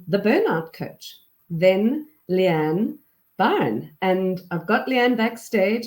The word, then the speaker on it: Byrne: It's Byrne, as in Byrne.